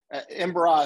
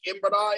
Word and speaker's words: Embera: And then Embera Indians, Embera is spelled E-M-B-E-R-A, Embera.